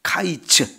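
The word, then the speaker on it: קַיִץ: 여름 과일은 히브리어로 보면 카이츠라고 하는 단어예요. 카이츠 이렇게 발음이 되고요.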